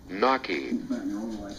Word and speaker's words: gnocchi: Thanks to the power of the internet, we now figured out how to pronounce this thing. Thanks to my wife, the internet queen. Gnocchi.